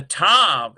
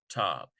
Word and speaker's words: tav: of a harder t, tav. In modern Hebrew and in some university seminaries, both the one with the dagesh, tav, and tav are pronounced like t.